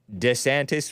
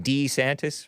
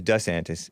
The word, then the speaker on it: DeSantis: Ronda Sanctus who reportedly changed the way he pronounced his name the way his wife Casey preferred saying it DeSantis rather than D santis Ron D santis he used to call himself but she prefers D antis Mike Pence reportedly won't